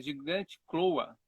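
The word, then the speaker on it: Gigantochloa: É gigante cloa. Gigante cloa. Ah, gigante cloa. Gigantloa. Isso, gigante cloa.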